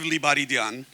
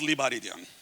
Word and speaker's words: Lebaredian: here by the way my name pronounced in Armenian is Rev liaran um it's misspelled in English and then got mistranslated into Armenian uh when I became a citizen years ago but it's pronounced liaran just so you know all right um